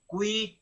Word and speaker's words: qui: Agnus Dei qui tollis, no es qui, no es qui, la Q con la U se pronuncia todo. Agnus Dei qui tollis, tollis, este siempre